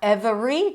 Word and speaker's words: every: Not every, don't add a syllable. Every.